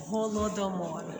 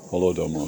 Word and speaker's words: Holodomor: How do you guys pronounce Holodomor? Holodomor.